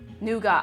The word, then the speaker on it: nougat: Nougat.